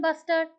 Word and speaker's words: bustard: So great Indian bustard is also please pronounce it as bustard not otherwise.